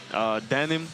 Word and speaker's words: Dëmin: How about Dëmin? Dëmin, yes. Dëmin, yes.